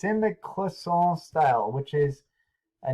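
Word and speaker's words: cloisonné: It's called Clisson. It's the same thing happening here. It's spelled Cloisonne.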